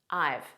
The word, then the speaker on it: I've: a look at I this is a contraction of I have so we say it as one word I've I've and it's a very unstressed pronunciation repeat after me